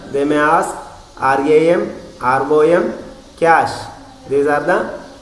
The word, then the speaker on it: cache: Another type of memory is cache memory, pronounced as cache, don't as cache.